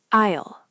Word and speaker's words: aisle: Like I will. No. Isle. Like I and isle.